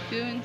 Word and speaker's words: Doune: That's not the way I was pronouncing it, but we asked somebody and that's that's the way they say to pronounce it. Dune Castle. Dune Castle.